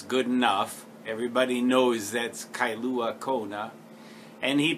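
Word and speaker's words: Kailua-Kona: was totally cool I remember admonishing him to pronounce my name and town correctly kyua Kona Havi he said Kona that was good enough everybody knows that's kyua Kona and he pronounced perfectly without my having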